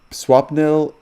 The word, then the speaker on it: Swapnil: Is it Swapnil Yes? you are right. Bang on. First time, it's Swapnil.